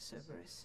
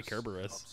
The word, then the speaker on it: Kerberos: up no it's supposed to be kerberos kerberos yeah because in greek and whatever the c letter is pronounced with a k that's why it's not